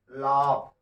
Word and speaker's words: laugh: जैसे LAUGH, क्या पढ़ेंगे इसको हम लोग, इसको देखिए क्या पढ़े हम लोग, लाभ। क्या पढ़े हम लोग, लाभ। तो यहाँ पर जो GH है, ये GH का उच्चारण हमने फ के रूप में किया।